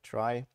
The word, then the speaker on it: trie: uh awkward naming convention it's spelled like in retrieval but pronounced like try to not have another